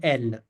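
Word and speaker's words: elle: के दिखा यहां पर पहले ठीक है इसको प्रोनाउंस करेंगे इल और एल एल एल इल एल हां इल एल हां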